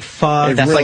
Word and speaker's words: pho: P-H-O, pho. Yeah. Oh, they don't pho. Pronounce it pho? No, it's like Vietnamese, they say pho.